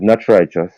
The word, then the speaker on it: Knatch Rychus: um, my immediate contacts are IG, and it is not righteous, and the name is spelled KNATCHRYCHUS.